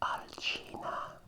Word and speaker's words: Alcina: bit of a story my first name is alsenia evening its current pronunciation is alcina and it's the name